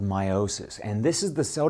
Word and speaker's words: meiosis: making two identical nuclei now meiosis notice that slight missing T it's spelled m o sis so I slightly emphasize the E because meosis can be used for